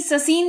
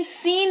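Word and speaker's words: scene: फिर है सीन। एस सी ई एन ई ससीन नहीं सीन। इसको पढ़ते हैं और इसका मतलब होता है दृश्य।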